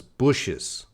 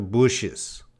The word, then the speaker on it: bushes: Bushes. She looked at the bushes. Because we have that SH, this will have the, that's my Z. IZ sound. Bushes.